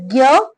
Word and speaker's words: ज्ञ: तो ज्ञ यह ज और ञ व्यंजन ध्वनियों से मिलकर बना है। पर हिंदी भाषा भाषी इसका उच्चारण ज्ञ के रूप में करते हैं। जबकि आप कई बार देखेंगे इस ध्वनि का उच्चारण हम कैसे करते हैं? ज कई लोग करते हैं। ज करके बोलते हैं उसको। ठीक है? लेकिन हमारे उच्चारण में हिंदी में क्या बोलते हैं? इसको ज्ञ बोल देते हैं।